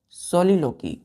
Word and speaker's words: soliloquy: सोलिलोकी क्या पढ़ते हैं? इसको प्रोनाउंसिएशन क्या करते हैं?